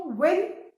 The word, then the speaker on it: won: इसमें जो 3rd वाला है वो आप देखो, विन वन, विन वन. And remember children, ये जो WON है इसको ONE1 जैसे ही प्रोनाउंस करते हैं आप लोग वन बोलते हो, दैट इज रॉन्ग, है ना.